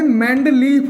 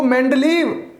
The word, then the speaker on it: मेंडलीव: भी लिख सकते हैं, मेंडलीफ भी। अब कंफ्यूज मत होना, ये वी वाला हिंदी में उच्चारण एफ का देता है, ये बी, तो मेंडलीफ या इसको मेंडलीव कुछ भी लिख दो, गलत नहीं है।